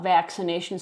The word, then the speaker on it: vaccination: It has a hard C, this one, vac, and then a soft C. This says S. It makes a S sound even though it spells C because there's that I.